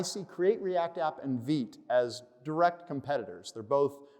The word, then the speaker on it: Vite: Also, in case you're wondering if I just don't know how to pronounce the word Vite, it really is Vite. I had to find it on a video, but that is the case.